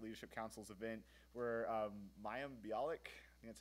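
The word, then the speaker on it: Mayim Bialik: to hell undergraduate leadership council's event where um mayam biic that's how you pronounce her name uh she's from The Big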